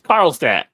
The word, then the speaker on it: Carlstadt: It's Carlstadt.